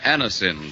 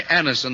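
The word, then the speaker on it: Anacin: When we ask you to try Anisonin for the relief of pain due to a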